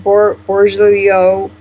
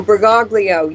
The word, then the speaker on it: Bergoglio: But how do you pronounce his last name? Bergoglio. Bergoglio. Oh, Bergoglio, yes.